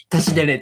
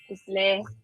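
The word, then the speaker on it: བཀྲ་ཤིས་བདེ་ལེགས: Toshidale. Tashidele. Toshidale.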